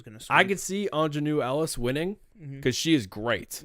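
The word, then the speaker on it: Aunjanue Ellis: Can you pronounce her name by chance? Ingenue Ellis?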